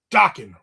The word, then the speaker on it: Dokken: Dokken rhymes with rockin'.